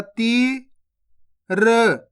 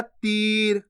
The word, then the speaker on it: तीर: चीज और समझ लो इसको खीच के पढ़ना है आपको किस प्रकार से जैसे तीर आपको तिर नहीं पढ़ना अगर तीर पढ़ोगे तो छोटी ई की मात्रा का उच्चारण हो जाएगा तिर जबक अपन बड़ी ई की मात्रा पढ़ तो कैसे पढ़ेंगे तीर खीच के पढ़ेंगे क्लियर है ये भी